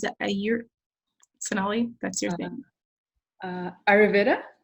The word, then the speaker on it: Ayurveda: Her trainings are informed by the natural healing tradition of, how do you pronounce it? Sonali, that's your thing. Ayurveda? Ayurveda, yoga, and trauma-informed relationship community building skills that